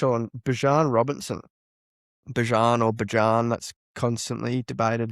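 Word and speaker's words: Bijan: Bjan or Bjan, that's constantly debated how he's pronounced, but we're going to roll with Bjan.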